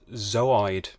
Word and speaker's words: zooid: Also, from my scientific knowledge, I think it's pronounced zooid. Zooid. Oh, Yeah. I like this. Because like zooplankton, but it's the fact that you break it up so you kind of have a pause in the middle and then Got you.